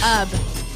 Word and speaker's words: Ub: It's pronounced Ub.